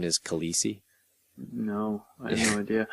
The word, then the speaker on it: Khaleesi: babies were named Khaleesi that year. That's ridiculous. That's how you pronounce it.